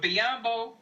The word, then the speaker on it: Biyombo: a huge signing but biyombo rhymes with Matumbo and Lakers can get